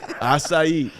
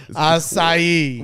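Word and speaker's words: açaí: golf course you're still not saying it right aai aai why don't you stop playing golf courses that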